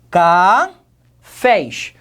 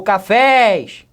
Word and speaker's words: cafés: tônico em cada sílaba como é que eu falo cá fez ou cafés café expresso é a sílaba forte é última novamente estou trabalhando com uma